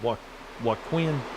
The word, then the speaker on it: Joaquin: Joaquin. Joaquin. The Q is Joaquin. Okay. Joaquin. Yeah, we don't have many Q's in the South here. You know, So like pronounce it like Wakeen. Joaquin.